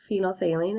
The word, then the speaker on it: phenolphthalein: we're gonna use phenolphthalein phenolphthalein is how you say that indicator if you remember from